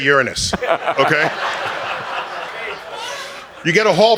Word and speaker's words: Uranus: Properly pronounced. Yeah. If you're older than 8 years old, you should say Uranus.